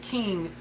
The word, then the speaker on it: KXNG: Okay, so on from that, we then get darn Brandon and King. Once again, honey, we got all these darn not Brandon, but Brandon and King, but it's spelled KXNG.